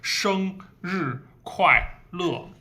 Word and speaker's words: 生日快乐: So 生 is a nasal sound, 生 flat, and 日 going down. And 快 wide open, 快 going down, 快. And 乐. So this is four syllables, only one flat tone, 生. The other three are all down tone.